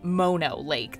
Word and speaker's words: Mono Lake: lake are open and they are free actually pronounced mono lake this ancient lake formed roughly 760 000 years